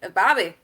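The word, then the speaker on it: Babi: you say it because it's spelled b-a-b-i and we were like bobby oh yeah if you ever talk about baby you got to say it you got to say it like that yep so yes it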